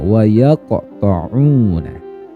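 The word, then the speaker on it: يَقْطَعُونَ: Huruf qaf ini ketika sukun maka ya matinya kan asli nih emang karena sukun, sehingga dia termasuk qalqalah surah. Harus dipantulkan cara membacanya. Wa yaqta'una.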